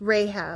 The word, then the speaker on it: Rahab: Um, that what's the what's I can't remember how to pronounce that. It starts with No, it starts with an R. It's Rahab. Rahab.